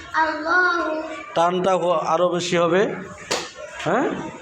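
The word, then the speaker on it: اللهُ: আলিফ জবর লামের তাসদীদ আল, লামের খাড়া জবর আলিফ ল আর পেশ হু আল্লাহু। টানটা আরও বেশি হবে। হ্যাঁ, আপনি বলেন তো। আলিফ লাম লাম হা আল্লাহু। বানান করেন।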